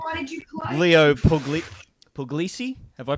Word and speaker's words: Puglisi: Leo Puglisi? Have I pronounced that right? Close enough, Puglisi. Although technically I think it's Puglisi, but yeah, see, it's Italian, right? Yeah, that's right. So from the Sicily area.